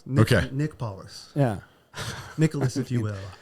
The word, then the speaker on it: Paullus: okay everyone does okay even though it's it's as fairly phonetic is I don't know so it's paus Nick Nick paus yeah Nicholas if you